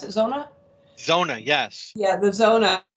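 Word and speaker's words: Xona: Is that how you pronounce it, Zona?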